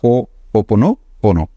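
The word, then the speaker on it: Hoʻoponopono: मैं इसको ओनोपोनो बोलता हूं। ये ओनोपोनो पोनो पोनो लोग उसको कुछ कुछ कर देते हैं, कोई बात नहीं, टेक्निक ही है, बट उसका सही प्रोनाउंसिएशन है जो आपने किया, हो ओपनो पोनो।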